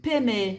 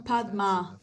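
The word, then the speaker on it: padme: Mas, no fim, é um e, peme, não padma. Então, o que significa aqui, que é peme?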